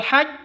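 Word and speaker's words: الحج: berarti alqamari alqamariyah alqamariyah haj harus ditekan fil haj je haah seperti itu fil haj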